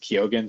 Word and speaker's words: Keoghan: So and he pronounces it Keoghan, so I'm like, I have faith that he's correct on that.